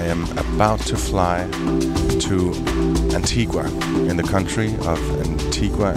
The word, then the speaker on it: Antigua: some say Antigua Antigua is the Spanish pronunciation because of the whole Columbus thing and in Spanish Antigua means ancient but we were colonized by the British in 1632 so it's pronounced Antigua meet pal a bow a digital nomad from